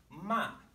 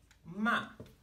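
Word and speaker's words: 骂: And if the pitch of my voice falls as I produce the syllable ma, ma, it means to scold somebody, to scold, to yell at.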